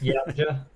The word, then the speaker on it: Yautja: How do you pronounce the race? Do you remember? Can you? It's Yautja. Yautja? Yeah, the Yeah. Yautja.